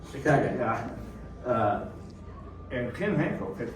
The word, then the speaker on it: Chicago: That's the proper pronunciation, by the way, Chicago. Chicago.